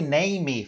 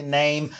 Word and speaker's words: name: Olha, não coloquem, não pronunciem a letra E no final das palavras, como some, name, né? Não fale name, fale name.